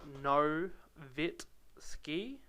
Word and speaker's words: Nowitzki: The way you pronounce Nowitzki's name is pronounced Novitski, so it's Nowitzki.